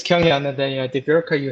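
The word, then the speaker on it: Kyunghyun: Yes, it's Kyung-hyun, and then the Bjorka, you had the perfect pronunciation there.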